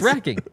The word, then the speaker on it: wracking: you're watching nervous yes it's Wrecking okay I said it right thank you wait no no it's racking it's it's racking no don't leave him